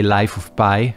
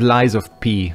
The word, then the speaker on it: Lies of P: I pronounce it, because I keep trying to say Life of Pi, which is the movie. But no, this is Lies of P, which is just way